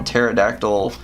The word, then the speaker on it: pterodactyl: I know it says P in front of the terrific, but you know, pterodactyl, the P is silent.